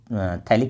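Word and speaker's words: phthalic: थैलिक acid है। P silent होता है।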